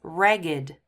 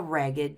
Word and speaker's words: ragged: So when these are used as adjectives, we have to pronounce them with id. So this, as an adjective, is ragged. Cinderella wore a ragged dress.